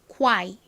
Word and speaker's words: quiet: 미국식으로 정확히 해보도록 하겠습니다. quiet가 아니라 QI를 빠르게 발음을 해주세요. quiet 이렇게요.